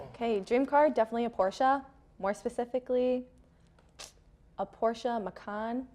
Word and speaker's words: Porsche: I thought it was pronounced Porsche. No, it's two syllables, Porsche. It's Porsche.